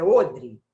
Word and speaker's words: odre: Pegou o filho, deu uma porção de pão, um pouquinho de água, num odre, não fala odre não, é odre, a pronúncia dessa palavra.